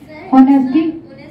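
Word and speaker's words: honesty: ऑनेस्टी। ऑनेस्टी एक silent है।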